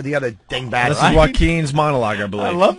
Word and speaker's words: Joaquin: Oh, Joaquin. Oh. Anybody with a silent J in the beginning of their name is going to stink.